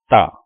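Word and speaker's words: ت: And the other one, it has 2 dots on top and it is called Ta, Ta.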